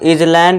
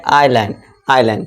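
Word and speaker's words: island: अब आई के बाद देखिए आ गया हमारा एस, तो यहाँ पे क्या हो जाएगा, ये एस साइलेंट हो जाएगा, तो इसे हम इजलैंड या फिर आइलैंड नहीं पढ़ेंगे, इसे हम क्या पढ़ेंगे, आइलैंड।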